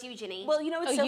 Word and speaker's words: Eugenie: But Princess Eugenie is like just as close to What'd you call her? Eugenie. That's how you pronounce her name.